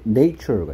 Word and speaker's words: nature: 오케이, 그 다음에 nature가 있습니다. nature의 뜻은 자연이고요. 요거 형용사형 만나봤습니다. 형용사형은 natural이었죠. A의 발음이 자연이란 명사할 때는 nature였고요. 형용사 natural 할 때는 에 발음이었습니다. nature, natural 발음 주의하라 했고요.